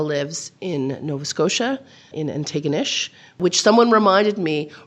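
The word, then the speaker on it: Antigonish: in Nova Scotia, in Ininew, which someone reminded me rhymes with bucket of fish. So if you're ever confused about how to pronounce Ininew, that's it.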